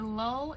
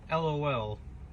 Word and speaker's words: lull: We are moving on to an anime that is called A Lull in the Sea. And it's not LOL. It's LUL.